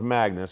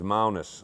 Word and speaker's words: Magnus: So it's not pronounced Magnus, it's Magnus, all right? That's the correct Denmarkian term, right?